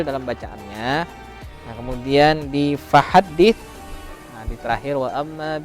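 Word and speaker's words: فَحَدِّثْ: Nah, kemudian di fahaddits.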